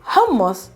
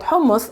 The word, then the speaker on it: hummus: letter of the word hummus is it's not the letter s it's not a normal s it's a guttural s that comes from the